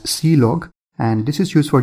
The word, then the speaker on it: clog: Now, this is used for standard errors, and then the last one is clog which is pronounced as see-log, and this is used for general information like log information and all.